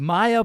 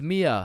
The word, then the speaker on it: Mia: Wait, what the Is is Maya present? Uh, it's it's Mia. Wow. Quite the name you got there. It's spelled kind of weird. No. No, it's not. It's literally three letters.